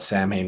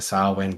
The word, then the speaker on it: Samhain: And then I appreciate the witchy people in the world who take it seriously and call it Samhain when it's actually should be pronounced something closer to Samhain.